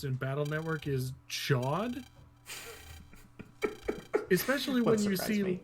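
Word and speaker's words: Chaud: And apparently that's supposed to be pronounced something like should, because it's French. But I'm pretty sure that the way it's always been pronounced in Battle Network is chod.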